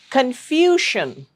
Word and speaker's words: confusion: Continuing with the common mispron mispronounced words confusion. It's not confusion. A lot of people pronounce it as sun. No, it's shun. Confusion.